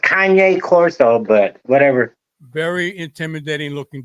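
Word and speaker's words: Cane Corso: there big do you never never heard of K Coro it's actually it's actually pronounced Kanye Coro but whatever very intimidating looking dog yes right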